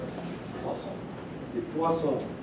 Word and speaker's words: Poisson: How do you pronounce it? Poisson.